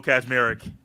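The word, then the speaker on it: Kaczmarek: Kazmarek. And there is not a Z right there. It's K-A-C, but it's Kaz.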